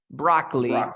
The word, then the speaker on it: broccoli: just check this pronunciation we say Brock broccoli two syllables broccoli okay broccoli cider